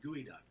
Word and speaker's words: geoduck: And not just any clams, but a very strange-looking clam that is specific to the Pacific Northwest, called a geoduck. And if you haven't seen it, it's spelled geoduck.